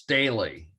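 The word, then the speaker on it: Staehle: Yeah, the artist's name is pronounced Staley.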